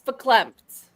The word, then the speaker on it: verklempt: Verklempt.